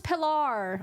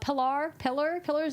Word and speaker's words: Pilar: I think it's because of the way it's spelled that you're tempted to say Pilar. They told him it was pronounced pillar.